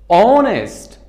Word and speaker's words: honest: tell you another example It is honest, honest, not honest. Honest تلفظ میشه. Honest تلفظ نمیشه. Because قبل از O که H بیاید تلفظ نمیشه.